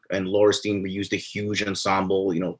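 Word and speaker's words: Laurestine: But after your last album, Laurstein, I believe is how you pronounce it. Is that correct? Laurstein? Laurstein.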